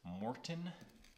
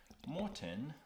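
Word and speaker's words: Maurten: gels or the the marttin which I actually found out they're pronounced as Morton Morton like the salt brand so that's generally what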